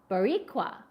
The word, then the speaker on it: Boricua: you for adding I love that and it's pronounced boricua oh thank you boricua I gotta love the phonetic spelling because that